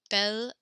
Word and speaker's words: bel: Belle and belle are pronounced the exact same.